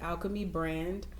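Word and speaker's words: Alkeme Brand: Facebook and Instagram you can find me at Alchemy brand um it's spelled a-l-k-e-m-e-b-r-a-n-d um yeah just just follow us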